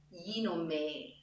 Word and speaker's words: γίνομαι: So in γίνομαι, me as a German, I pay attention to the E sound. And I have to pay attention to the last E, so I don't have a German And what helps me pronunciation-wise is to say the E with a smile. γίνομαι. The smile makes my E sound better. Γίνομαι in English can have